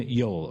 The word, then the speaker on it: Yoel: Kiryas, which is a Yiddishization of the word Kiryat, which means village of, and Joel is actually, interestingly, an English pronunciation of his name, Yoel, or Yoelish, or Yoeli.